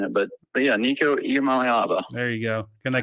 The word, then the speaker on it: Iamaleava: Nico Iamaleava. There you go, Iamaleava. I have taken your approach, and you have to make like songs and make it like break it down syllable by syllable. Iamaleava.